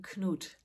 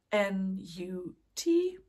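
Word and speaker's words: Knut: and I'm calling him cot knot is is spelled k n u t so it might look like a nut but it's not it's cot and he's cute he's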